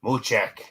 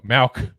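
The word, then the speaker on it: Mauch: 666, Cody Muchek. No, Malk. Yeah. Malk. I just can't pronounce, guys. I'm a terrible. I even spelled it phonetically for us. It says Moo. It said Mao, MOW-CK.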